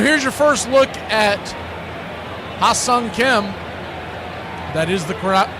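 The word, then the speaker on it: Hye-seong Kim: So, here's your first look at Hassang Kim. That is the corre correct pronunciation.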